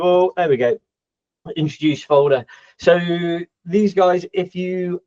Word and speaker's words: Foldr: bit of a joke because it's not folder it's folder so if you've ever been